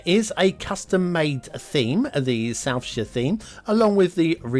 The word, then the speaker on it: Southshire: Today's map is Southshire, or Southshire if you are from America. we don't pronounce it as Shire. Sure.